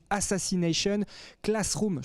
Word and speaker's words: Assassination Classroom: Ça s'appelle donc Assassination Classroom. Je prononce bien, les garçons?